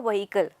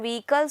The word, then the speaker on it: vehicle: pronunciation wrong okay so it is not vehicle students vehicles from the next time you will not be saying it like that you will say it vehicle clear so this is the correct pronunciation of the word vehicle clear can be mode